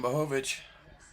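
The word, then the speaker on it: Błachowicz: All right, here comes the former champ, the Polish power, Yan Blovic. Blhovich. Let's hear how you say it. Yan Bohovich.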